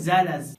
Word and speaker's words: zealous: सबसे पहले आइए दोनों वर्ड के साउंड की बात कर लें। जे इ एल ओ यू एस। इस वर्ड का साउंड है जेलस। और वहीं अगर हम बात इस वर्ड की करें जिसका स्पेलिंग है जेड इ एल ओ यू एस। तो इस वर्ड का साउंड है जेलस। यानी इन दोनों के साउंड में थोड़ा सा फर्क है।